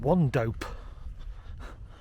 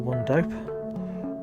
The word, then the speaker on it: Wandope: I think it's pronounced Wandope. Wandope? W-A-N-D-O-P-E. It's probably Wandope. Wandope.